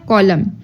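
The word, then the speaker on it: column: बोलने में नहीं आएगा एन में क्या है कॉलम कॉलम हम लोग पढ़ते हैं कॉलम नहीं पढ़ते मींस दैट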